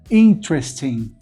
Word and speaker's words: interesting: primeira sílaba Kia Forte Então a primeira vogal da segunda sílaba não é pronunciada olha só come futebol campo de futebol o interesting o interest in dust